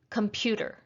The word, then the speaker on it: computer: in a word so with the word computer we have three syllables computer one of these syllables is going to have more strength i'm going to say this word twice try to see if you can hear which syllable is stressed computer computer not sure if you got it but it's the second syllable computer if you look at the